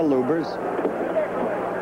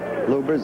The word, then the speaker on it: Lubbers: against Rudy LS or lubers it's pronounced both ways luers is probably more technically correct anyway it's the way Rudy wants it said see how